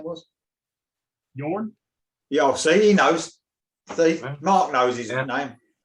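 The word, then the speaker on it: Jørn: Yeah, I think the Norwegians pronounced that J with a Y sound. It's a soft J.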